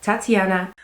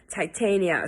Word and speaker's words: Titania: new these are Viola Tatiana hi guys just me editing here I say a shade name wrong throughout the entire video it's not Tatiana it's Titania so see this as